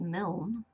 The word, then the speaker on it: Milne: So I looked up how to enunciate Milne.